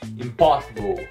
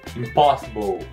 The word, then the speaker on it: impossible: O final dessa palavra não é ble, como impossible, e sim bow, impossible, impossible, impossible.